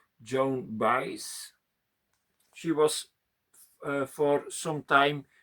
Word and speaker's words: Joan Baez: How is pronounced? Not so easy. Baez. Joan Baez.